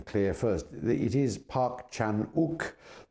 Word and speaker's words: Park Chan-wook: as it were of Park Chanuk's uh revenge trilogy. Uh so I think we might start with Park Chanuk himself. Let's get the name clear first. It is Parkchanuk. The W is not pronounced.